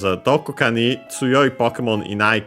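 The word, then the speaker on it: どこ: But it doesn't stop here, accent, as said, accent on the do.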